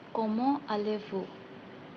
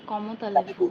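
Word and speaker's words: comment allez-vous: এখানে কমো আলেভু, এটাকে অনেক জায়গায় আমি উচ্চারণ করতে দেখেছি কমো তালেভু, মানে টিটা উচ্চারণ হয়, ওটা কি ভুল?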